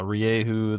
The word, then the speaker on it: Rieju: So yeah, Rieju, that makes the the sound that it looks like it's supposed to make, and then the J makes the H sound.